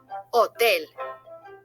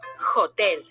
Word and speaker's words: hotel: The letter H in Spanish has no sound. Nada. It's mute, silent. So don't be tempted to pronounce it. In Spanish, you say hotel and not hotel.